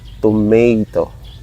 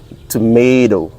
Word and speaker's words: tomato: exact like this, tomato, tomato. So the T at the ending part of the toe become dough, D, tomato.